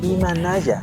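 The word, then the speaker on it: Imanalla: Hai, sí, Imanaya, la pronunciación Imanaya está doble l.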